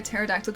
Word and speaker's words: pterodactyl: Why can't you hear a pterodactyl going to the bathroom? Because the pee is silent.